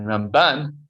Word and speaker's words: Ramban: So the way it's done is you put the emphasis on the first syllable. That's Maimonides, Rambam, and Ramban is Nachmanides. That's how you could remember it, that which syllable you emphasize.